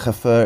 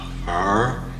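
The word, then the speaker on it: Hfuhruhurr: The two are then soon married after Dolores learns that Haffer is to inherit a fortune.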